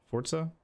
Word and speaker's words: Forza: year from ign so i really hate how you pronounce that forza i know it's the correct way i still hate it